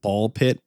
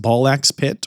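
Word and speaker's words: Ball x Pit: apparently not pronounced ballax pit or bulks pit. It's a ball pit. Two complete separate words with a random X in between for reasons I do not know.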